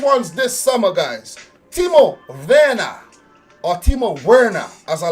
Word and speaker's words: Werner: Timo Werner, or Timo Werner, as a lot of people will say. Do not say Werner. Do not say Werner. His name is Timo Werner.